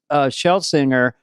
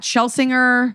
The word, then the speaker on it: Schlesinger: What's the most common mispronunciation, or is there one? What Dana just did deliberately or not? I can't tell if it's a bit. No, I was kidding. Okay, thank God. It's Schlesinger, Schlesinger, but I don't even correct